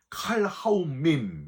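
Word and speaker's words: כל האמים: 그리고 너희 모든 백성들아, 이건 칼하움밈 이렇게 발음을 하는데 모든 세상 사람들 한 명도 빠짐없이 세상 사람들 전체를 가리키는 말이 칼하움밈입니다.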